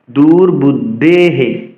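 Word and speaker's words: দুর্বুদ্ধেঃ: র আমাদের বলতে হবে র পরিবর্তে বিসর্গ বলতে হবে দূরবুদ্ধেহে বলতে হবে বিসর্গের জন্য হে আসবে এবং বিসর্গ পূর্বের ব্যঞ্জনের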